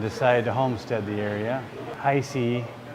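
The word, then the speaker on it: Heise: to homestead the area icy is how we pronounce it now was established in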